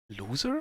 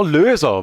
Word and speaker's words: Löser: Loser for solver? No, Löser with an Umlaut. Tom Loser. Yeah, that would be pronounced Tom Löser then.